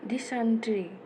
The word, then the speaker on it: dysentery: तो DYSENTERY, इसे मैं बोलूँगी, प्रोनाउंसिएशन है इसका डिसेंट्री।